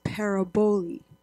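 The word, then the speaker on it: παραβολή: And the Greek word for parable is paraboli, I think. That's how you pronounce it.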